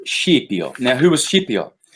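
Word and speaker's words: Scipio: the dream of ship yo if you're Italian Skippy Oh for anyone else okay the dream of Skippy I properly pronounced sheep York now who was ship yacht well he's the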